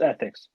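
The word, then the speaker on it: 3Thix: It's spelled 3, number 3, Thix. It's Ethics, pronounced Ethics.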